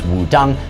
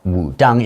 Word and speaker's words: Wudang: Okay, so Wu-Tang is just another way of using English letters to write Wudang. In fact, it should still be pronounced Wudang.